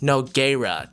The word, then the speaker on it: Nogueira: Apparently it's pronounced Nogueira, just if you wanted to know for sure how to pronounce her last name.